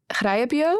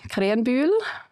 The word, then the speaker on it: Krähenbühl: Because I guess in Swiss German, it's like Krähenbühl. Yeah, exactly. Right? Yeah, that's easy. Yeah, and then in German it's like Krähenbühl.